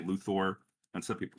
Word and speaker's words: Luthor: I say Lex Luthor. Sounds like a Wrong. It's how it's pronounced. How's Oh, that no. Oh, not though. That is It's correct. my show and I can edit you out. What is he saying? It's pronounced as. Luthor. Yeah, that's correct.